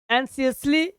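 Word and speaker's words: anxiously: जैसे वो उस बॉक्स को पकड़ती है पकड़ी वेटिंग एनसीसी क्या बोलते हैं आपका यहां पे इसका उच्चारण होगा सी के जैसा एनसीसली चिंतित हो के फॉर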